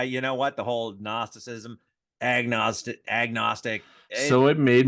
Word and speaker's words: Gnosticism: one can say it gnosticism then she is silence the g is silent you know gnosticism can gnostics yeah ready